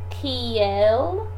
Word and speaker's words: kiel: And if you say Kiel, then I can't tell if you're asking Kiel, how, or if you're asking Kial, why. So we need to work on that pronunciation, particularly when it comes to the correlatives, because you can get confused so fast by kind of blurring your vowel sounds together.